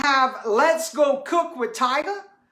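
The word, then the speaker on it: Tiger: And then I have Let's Go Cook with Tyga. It's T-I-G-E-R. I know I say it weird, but that's how it's spelled.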